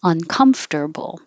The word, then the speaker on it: uncomfortable: even if it's uncomfortable you don't emphasize the UN uncomfortable that makes me feel